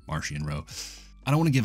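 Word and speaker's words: Marchion Ro: eye of the Nill Martian row or Maran row there's a little bit of debate on how that's pronounced but I choose to say Maran row I don't want to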